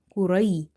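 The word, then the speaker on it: قريش: But, this is like a Q sound in English. Qu, qaf dammah, qu. Raw, ya fatha, ray. Quray. Now, before ya sakinah, now we have fatha. Okay? If we have kasrah before ya sakinah, then ya is maddah. But, here we don't have kasrah. We have fatha. So, ya will be lean.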